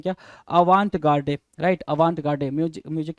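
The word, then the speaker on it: avant-garde: क्षेत्र में अग्रगामी है भाई ये आवां गाडे बोलेंगे इनको क्या आ वांट गाडे आ वांट गाडे दो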